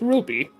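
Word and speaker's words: RWBY: And next up is Ruby. Yes, it's spelled R WB Y.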